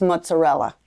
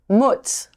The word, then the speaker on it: mozzarella: So how do they pronounce mozzarella? Mozzarella. Mutz, Yeah, right? like it's a U.